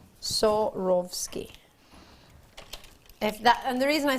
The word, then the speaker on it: Swarovski: If you're not sure how to pronounce it, I think of sawing off skis. Or I pretend that I'm Russian. Swarovski. Swarovski.